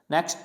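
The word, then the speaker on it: knock: Next नॉक, कनॉक नहीं पढ़ेंगे, नॉक, NOC के नॉक, KNOC के नॉक।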